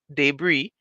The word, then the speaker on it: debris: the way it's pronounced debris it's spelled DB r i s so there's that S at the end that is not pronounced it's a silent s and so students would